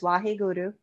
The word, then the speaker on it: Wahe Guru: So the mudra is wa he Guru, it's G-U-R-U with little roll and R, Wahe Guru, three times. So these are our over the shoulders, Wahe Guru, Wahe Guru, Wahe Guru.